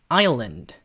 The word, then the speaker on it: island: 일단 이 아일랜드를 미국식으로 발음을 하면요. 이렇게 됩니다. Ireland. 이런 식으로 미국 사람들은 아일랜드라는 나라를 Ireland 이런 식으로 발음을 해요. 미국식은. 근데 영국식은 다행히게도 혀꼬는 그런 게 없으니까 영국식은 Ireland. 우리가 섬이라고 알고 있는 아일랜드는 Island. 이렇게 하는 거고요.